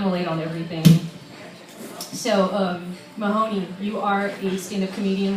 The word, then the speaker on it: Mehoné: do you say your name again I'm sorry Mahoney Mahoney you're having trouble with that mic mic